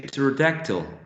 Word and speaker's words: pterodactyl: Which letter is not really pronounced when we say resign? Exactly. And when we say pterodactyl?